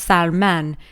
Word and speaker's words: Salman: Could be pronounced Salman, less fishy, more dictatory.